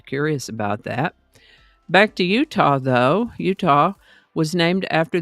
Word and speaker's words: Utah: When the Spanish explorers came along, they simply pronounced it as Utah, and that pronunciation evolved to the current pronunciation, Utah.